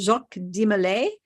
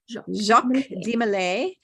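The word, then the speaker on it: Jacques de Molay: tell you who jacques his name is pronounced jacques di malay jacques de malay and because i speak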